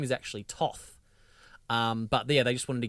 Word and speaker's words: Thoth: He refers to him as Thoth, which they were all making fun of because it just sounds like pork chops and apple thoth is the joke that Amanda Tapping made. But it's actually pronounced Toth, like it's with a hard H sound.